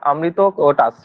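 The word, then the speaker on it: অমিত্রোকেটস: অ্যামিত্রো চেটাস বা অমৃত খা, ঠিক আছে? অ্যাকচুয়ালি উচ্চারণটা অমৃত কোটাস, ঠিক আছে? অমৃত কোটাস।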